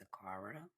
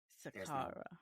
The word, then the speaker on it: Sakhara: Hi Sakhara, how are you? Good. Hi, everyone. Did I say your name correctly? It's pronounced Sakhara. Sakhara. There's no sh.